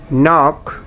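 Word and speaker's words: knock: Silent K in English, knife, নক, নো। এখানে কে শব্দটা silent.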